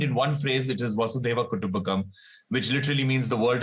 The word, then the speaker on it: Vasudhaiva Kutumbakam: Could you pronounce it for me? Vasudhaiva Kutumbakam.